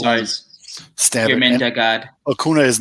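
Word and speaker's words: Acuña: He's like, it's Acuna.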